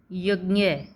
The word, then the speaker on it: यज्ञ: ठीक है, तो ये इसका सही उच्चारण होता है, क्योंकि ये ज और न से मिलकर बनता है, इसलिए हम उसको य बोलते हैं। वैसे आपने अब तक सीखा होगा इसको ज्ञ, ज्ञ से ज्ञानी, तो ये गलत होता है। इसका सही उच्चारण क्या है?